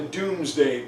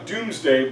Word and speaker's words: Domesday: And William wrote this down in a book called the Doomsday Book. It's spelled Domesday, but it meant Doomsday.